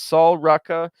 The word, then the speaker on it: Sol Ruca: It's Sol Ruca, and yes, that is I have been pronouncing her name right.